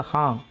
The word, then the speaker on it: हाँ: இந்த ஹாங் சொல்லும்போது கடைசி இங்கு உச்சரிப்பு சைலண்ட்டாக வர்ற மாதிரி பார்த்துக்கோங்க. ஹாங், ஹாங்காங்னு சொல்லுவோம்ல, ஹாங்.